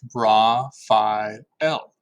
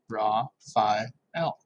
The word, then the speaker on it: Raphael: That's pronounced Ra-Phi-El. Ra-Phi-El.